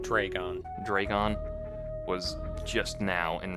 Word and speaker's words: Draygon: was a kid who he said that Draygon was just dragon. It was just pronounced dragon. And I'm like, there's a Y in it. That's not how you spell dragon.